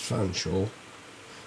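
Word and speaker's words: Featherstonhaugh: Mr featherston Hall pronounced Fanshawe had an apothecary shop here I got me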